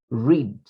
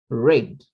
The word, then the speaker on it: read: we read it as red the spelling is the same but the pronunciation is different present tense read past tense red red like red color but not red you